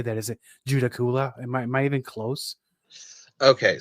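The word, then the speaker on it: Judaculla: A lot of people have a hard time saying it, but the way I've always heard it pronounced is Judacola.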